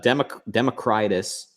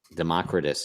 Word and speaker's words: Democritus: alright well hopefully not democratise Democritus oh I pronounced plenty around anyway all mispronounce it for the sake of a rhyme I guess Democritus is his name he was the father